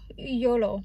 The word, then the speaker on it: YOLO: YOLO. Seriously. Emphasis on the last O.